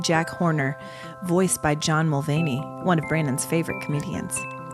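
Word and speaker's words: Mulaney: sorry not sorry uh John milany oh um I was reading there's a v in there that's the most Cindy bird will thing ever to be likey KY will mispronounce a name John mulany I love it and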